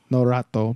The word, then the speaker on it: Norato: how to say it again know that though no rat though but I'm like I'm singing like Naruto in